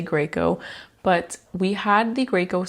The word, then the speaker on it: Graco: we had was from GCO Greco however you want to pronounce it we say Graco but we had the